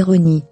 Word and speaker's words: Rani: Rani, qu'il faut prononcer Rony, et il précisait, est en fait un hommage à Ron, le père du musicien Danny Fujikawa, papa de la fillette.